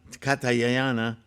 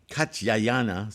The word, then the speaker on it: Katyayana: divers implements, this great Katayana Katyayana, sorry, finally said it right, shall make offerings